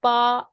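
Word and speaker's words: 八: Because again, 8 is pa, which is like this thing, it's a similar pronunciation as fa, which means wealth, okay, fortune.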